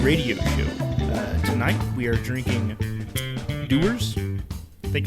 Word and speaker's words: Dewar's: the whisky Dan radio tonight we are drinking doers think it's I pronounce it it's spelled like it says dwarves